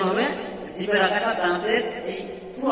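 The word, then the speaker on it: ه: এই হা উচ্চারণের সময় কোনো চাপা যাবে না, তা হালকা ভাবে বলতে হবে।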